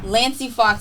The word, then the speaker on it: Lancey: Lancey Fox is how you pronounce it.